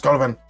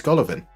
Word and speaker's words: Golovin: But generally, instead of just going, who the hell is Golovin? It's Golovin. Just say, it's Golovin. There we go.